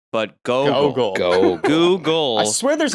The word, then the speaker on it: Gogol: Google, but Gogol.